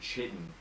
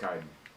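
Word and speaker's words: chitin: mad at me um one second um I pronounced it chitten for two years straight and nobody ever corrected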